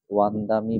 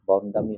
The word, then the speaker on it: বন্দামি: ও কাশ যেটা আছে ও কাসা, ও কাসা, ওয়ান্দামি ভান্তে, বন্দামি হবে না, ওয়ান্দামি ভান্তে, ও কাসা ওয়ান্দামি ভান্তে।